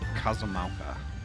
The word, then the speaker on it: Kozama'uka: And I was pronouncing it wrong the whole time. It's Kozama'uka.